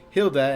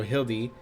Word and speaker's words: Hildy: It just started as a way to tell people how to say it, but then people would say Hilda, and you're like, no, Hildy.